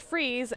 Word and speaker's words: Fries: Also, Matt, my last name is spelled like fries, but it is pronounced freeze, and if you pronounce it wrong, I will hurt you.